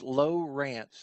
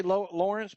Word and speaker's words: Lowrance: It's just like it's pronounced just the way it's spelled. It's a lot of people say Lawrence, but it's not L-A-W, it's L-O-W, just like the depth finder, fish finder machine, Lowrance.